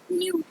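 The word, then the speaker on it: know: न्यू इसकी first form क्या होगी? नो हां के साइलेंट रहते हैं।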